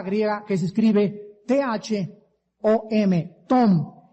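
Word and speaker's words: תהום: Esta palabra es una palabra griega que se escribe T-H-O-M, tom, y significa aguas o depósitos subterráneos.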